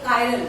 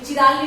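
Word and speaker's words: chiral: कायरल वो carbon atom, ऐसा compound जिसमें कम से कम एक कायरल, इसे कोई चिराली बोलते हैं बट सही प्रोनाउंसिएशन कायरल है, ऐसा ऑर्गेनिक कंपाउंड जिसमें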